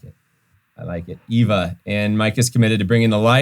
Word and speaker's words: Eva: Yeah, it's the German pronunciation for the name Eve. So we kind of love that. So I like it. Eva.